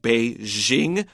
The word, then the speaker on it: Beijing: English only article so I use the American pronunciation of be Jing although I probably haven't said that naturally in a long time it takes an effort because we know the right way to say it the BBC says Beijing yeah and you hear